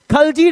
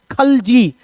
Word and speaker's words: खलजी: Next one, second खलजी dynasty. अब यहां पर देखो, यहां लिव्स क्या लिखा है? खलजी। इंडिया में इसको प्रोनाउंस किया जाता है खिलजी।